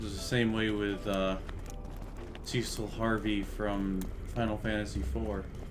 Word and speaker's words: Cecil: It was the same way with Cecil Harvey from Final Fantasy IV. And then come to find out later, actually, it's pronounced Cecil. And it just does not sound right to my ears.